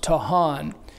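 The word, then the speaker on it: טחן: It's written T-A-C-H-A-N, excuse me, but it's pronounced Tahan.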